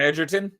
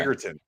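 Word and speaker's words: Egerton: Oh, it's it's a hard G, not a soft G. Yeah, it's as far as I understand it's a hard G. Oh, I thought it was Edertton, but it's Eggertton.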